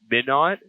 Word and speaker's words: Minot: the powerlifting Nationals in midn note Minot North Dakota IIs pronounced that wrong Min not Min not yeah how did